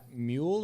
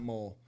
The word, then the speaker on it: Catmull: his work Endeavors edcat mule or mole I think it's cat mole because it's not m-u-l-e sorry Ed if we're